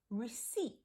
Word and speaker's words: receipt: the E comes first receipt now that's a really tricky word and it has a silent p in it that we don't hear but it's also